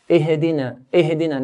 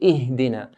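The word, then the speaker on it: اهدنا: Ihdina here, we don't bounce it, we don't make a qalqala sound. Ihdina, like how some people say it. It should be Ihdina.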